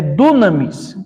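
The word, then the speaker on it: δύναμις: E operação se lê enérgema, maravilha é dunamis. Então, a gente é uma palavra comum, né? Maravilha. A gente sempre ouve falar quando se refere a poder do Espírito Santo, batismo, né? Essa palavra dunamis.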